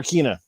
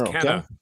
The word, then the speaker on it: Kena: Is it Kenna or Kina? It's Kenna. Kenna.